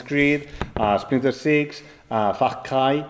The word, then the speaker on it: Far Cry: Y he trabajado en muchísimos juegos, desde Assassin's Creed a Splinter Six, a Far Cry, si queréis que lo pronuncie a la inglesa, Far Cry.